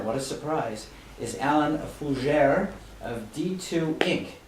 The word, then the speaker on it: Fougere: a surprise is alan fujer of d2 inc correct that's correct yep did i pronounce it correct yes you did yeah i'd pronounce it the french way yes okay how do